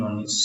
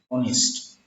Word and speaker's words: honest: Uh, in the term honest, H is silent in honest, so its pronunciation is like honest. Vowel sound.